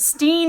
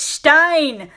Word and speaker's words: Stein: just like oh no your last name isn't Steen it's Stein your last name is